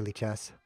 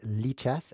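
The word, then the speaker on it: Lichess: let's go back to leech s this is by the way pronounced leech s li CH s is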